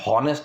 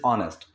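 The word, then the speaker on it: honest: Pronunciation क्या है? हॉनेस्ट नहीं है, इट इज ऑनेस्ट, ठीक है।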